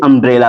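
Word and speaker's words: umbrella: चल रहा है चलिए जब किसी वर्ड के शुरू में यू आए और उसके बाद दो कंसोनेंट हो तो यू का उच्चारण अ में किया जाता है तो आइए देखते हैं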